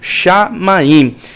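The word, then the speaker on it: שָׁמַיִם: Perceba que a boca tem que fechar no final, shamaim.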